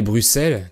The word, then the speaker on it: Bruxelles: est sa capitale est Bruxelles qui s'écrit avec un et dans ce cas le X est prononcé S comme dans 6 10 ou 60 par exemple le pays